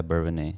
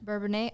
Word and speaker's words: Bourbonnais: yes they are from Bourbonnais Illinois is that how you pronounce it yeah bourbon a bourbon a okay I was like uh